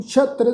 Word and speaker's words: शत्र: आरूढ़ते अश्व रथ नागै, आह बुझंते प्रभ मार गै, विचरते निर्भयं शत्र सैना। शत्र ससे पैर बिंदी लगा के तत्ते दे पैर में अद्धा रारा वा, इसका उच्चारण करांगे शत्र।